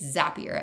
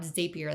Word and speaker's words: Zapier: It's Zapier as in Zapier makes you happier. Not Zapier like tapier although tapers are cute.